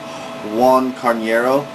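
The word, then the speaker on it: Roan Carneiro: um next up my boy John Fitch against Juan carero that's how you pronounce his name um you know this I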